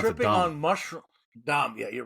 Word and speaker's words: Dam: We were I think they pronounce tripping it on mushrooms. Dom, yeah, you're right.